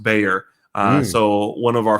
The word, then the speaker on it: Bexar: is called b is uh spelled b-a-x-a-r and pronounced bayer uh so one of our founders um john